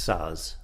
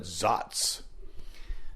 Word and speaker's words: Saaz: I'm not I don't know Czech, so that's how Germans would pronounce it.